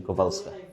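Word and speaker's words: Kowalska: Love Kovalska Kovalskaalska Polish pronunciation Kovalska W ang spelling pero sa Poland it's Kovalskka apo ni popan po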